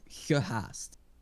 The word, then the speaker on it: gehaast: So the word you were trying to say while saying a G was gehaast. Gehaast. That's pretty close. Gehaast. Gehaast. Gehaast. Also pronounce the A.